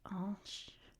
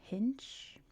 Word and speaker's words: Hinche: This is, since they speak French in Haiti, this is pronounced Hinche in French. I assume in English it would be Hinche.